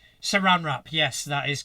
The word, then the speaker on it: Saran: very quickly there and and just correct your pronunciation Saran rrap Saran rrap yes that is correct I do apologize thank